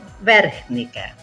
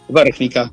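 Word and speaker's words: Vrhnika: en el año 2021 y actualmente vive en Bergnica. ¿Es así, Francisco? Muy buenas tardes. Muy buenas tardes a vos y a todos los escuchas. Es así, muy bien pronunciado. Son puras consonantes, pero bueno, Bergnica, bien dicho.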